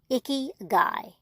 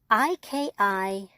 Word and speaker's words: Ikigai: It's called Ikigai, and it's spelled Ikigai.